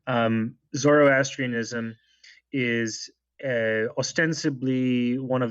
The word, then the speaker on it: Zoroastrianism: even Islam but um pardon my if I mispronounce this but like Z Zoroastrianism would have been the religion most dominant in